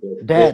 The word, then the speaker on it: Dhen: Rupanya nama panggung Mas Asep itu Hidayat Mas ya. Den Hidayat ya. atau Mas bacanya. Den. Den.